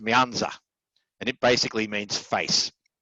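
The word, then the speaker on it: 面子: networks uh the second one over here is pronounced myanza and it basically means face so back to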